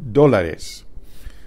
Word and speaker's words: dólar: Or you could say cuesta, put in the number of dólares. Dólar spelled with an accent on the O.